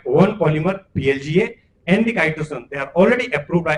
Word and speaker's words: chitosan: Some people say chitosan, chitosan. So we usually pronounce it as chitosan.